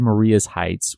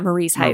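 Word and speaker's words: Marye's Heights: I said Maria's Heights when we were talking about the Battle of Fredericksburg. Yeah, Marie's Heights. Marie's Heights. Yeah. Kate's a local and said that's how they say it out there.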